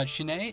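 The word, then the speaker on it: SHINee: uh what is it from a shiny uh shinai is how you pronounce it shiny yeah them and and they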